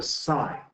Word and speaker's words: sine: And the first one is called the sign, but we just it's spelled s i n e, but we just abbreviate abbreviated s i n.